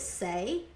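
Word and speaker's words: Saie: that um and then I think you pronounce it say s a i e the um glowy like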